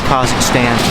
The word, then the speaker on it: Kazakhstan: By the way, Kazakhstan, no one says Kazakhstan. The American pronunciation is Kazakhstan, but Kazakhstan is really how it probably should be pronounced.